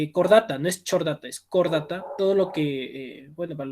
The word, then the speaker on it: Chordata: Todo lo que, bueno, para las personas que quieren seguir biología, todo lo que comienza, tiene CH, se pronuncia como que fuera la K. Entonces, la K, K-O es Chordata.